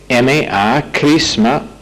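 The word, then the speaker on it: chrisma: La palabra unción es una palabra crisma en el griego, CH, que se pronuncia como K, R-I-S-M-A, crisma, y refiere a la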